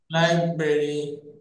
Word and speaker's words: library: এই যে Library.